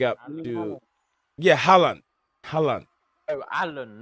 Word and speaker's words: Haaland: You said Alan. I keep saying Haaland. It's Alan, yeah.